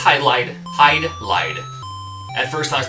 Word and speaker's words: Hydlide: the borrowed language, because it's written in katakana, which is Hai-do, Rai-do.